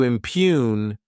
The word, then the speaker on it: impugn: To impugn, this word has two syllables, and the stress is on that second syllable.